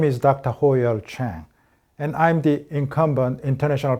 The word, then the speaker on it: Chang: So my actual name is Chang Ho-Yeol, as the correct pronunciation of my family name is Chang rather than Chang, so it's Chang Ho-Yeol.